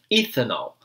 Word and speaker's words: ethanol: A gente sabe que a gente traduz a letra E em I, mas a gente não pronuncia literalmente dessa maneira em muitas palavras. Então, a gente não pronuncia ethanol, é ethanol.